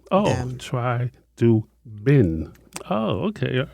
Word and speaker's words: Chidubem: It's Chidubem. Am I close? Very close. You're much better than prior times. Thank you. Chidubem, B-E-M. You have to pronounce that B. Oh, Bim. Oh, Chidubem.